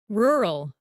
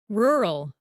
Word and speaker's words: rural: This word is pronounced as rural, rural.